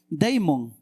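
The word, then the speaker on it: δαίμων: griego por si acaso la palabra demonio se se lee se escribe deimon Qué significa deimon significa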